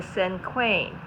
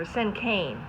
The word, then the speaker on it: cinquain: Okay, this type of poem is called a cinquain, or cinquain. Depends on how you say it. I've heard it both ways.